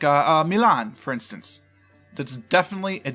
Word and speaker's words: Milan: Ohio and Michigan and in both cases is pronounced Milan it's it's bizarre though Fontana is Bella Fontaine